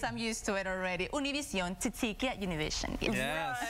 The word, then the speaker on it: Univision: No, but I mean, it's okay if you say Univision, but I like to bring out the Univision if I can.